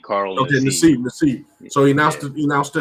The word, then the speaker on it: Nassib: How you pronounce it? Carl Nassib, Nassib, Carl Okay, Nassib.